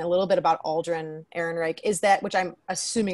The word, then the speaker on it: Ehrenreich: Well, for me, so my biggest thing, and I guess this is a good transition into talking a little bit about Alderaan Ehrenreich, is that, which I'm assuming is how you say his name.